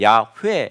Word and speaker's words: 야훼: 이름의 의미에요 야외 학자들은 지금 이 발음은 야외 일 것이다 라고 거의 90% 에서 95% 까지 학자들이 동의하고 있어요 야외 왜 아니면 야훼 라고 그래서 그렇게 번역을 하고 그렇게 발음을 해요 영어 성경에서는 그냥 캐피털